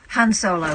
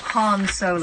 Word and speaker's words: Han Solo: Han Solo. Incorrect. Han Solo.